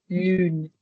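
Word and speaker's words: lune: It's Lun. Again, the U makes you purse your lips a little bit like so.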